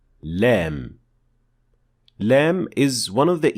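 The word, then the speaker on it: لام: lamp pronounced in Arabic you pronounce Lem when the front edge of the tongue is raised and pressing against the alveolar Ridge and when we say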